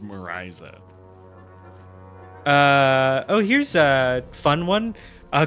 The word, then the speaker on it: Mariza: Because there's a Portuguese singer named probably Marisa, but it's spelled Mariza. Unfortunately, it's pronounced Marisa.